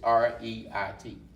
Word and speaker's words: REIT: Now, you got, am I saying this right? Is it Ritz? I think I'm saying it right. It's REIT. It's Real Estate Investment Trust.